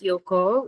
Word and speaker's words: Ryoko: So Ryoko, actually in Japanese, it's pronounced Yoko, which means traveling.